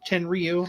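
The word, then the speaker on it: Tenryu: He he had the match of the year in 91 against Janichiro Tenri Tenriu. I I hope I pronounced that right. Tenrew Yep.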